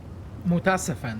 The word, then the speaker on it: Mutasafen: Mutasafen, that's how we pronounce it.